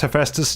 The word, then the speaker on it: Hephaestus: That's how you pronounce Hephaestus?